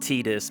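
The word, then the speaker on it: Tidus: 10 first of all I know it's officially pronounced tedious but I always said Titus is a kid it just makes more sense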